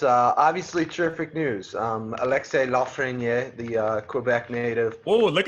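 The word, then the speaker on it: Lafrenière: That's the French pronunciation. When they pronounce it on the Canadian broadcasts in the World Juniors, they say Lafreniere. But tomato, tomato, it's cooler to say it the French way.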